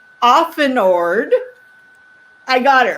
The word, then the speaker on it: Auffenorde: and can't see our names here her name is spelled last name often ord i got it right got it a u